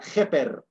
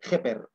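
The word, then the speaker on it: ḫpr: Esto se pronuncia Jeper, J-P-R, Jeper.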